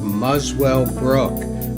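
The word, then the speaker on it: Muswellbrook: the Australian town of muswell Brook which incidently is pronounced without the W by Australians and Donald Fagan had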